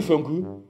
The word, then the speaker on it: Fokou: Au lieu de Foku, on dit Funku.